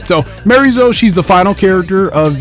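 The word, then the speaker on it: Miary Zo: trailer here, specifically for Mary Zo, or I don't think you pronounce the O at the end of her name. I think it's Mariza.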